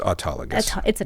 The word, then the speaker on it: autologous: that works too and it's autologus that's how we typically say it autus but sometimes we